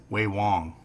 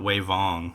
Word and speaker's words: Vewong: If it starts with a V, it's a W. So this is spelled Vedan, Vedan. Then there's Vewong, Wei Wong. Weird, huh? Because the W is still a W. It's not Wei Vong or something like that.